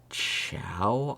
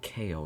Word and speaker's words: Chao: It's pronounced like chow, I believe. Oh. It's not pronounced like KO, it's pronounced like chow.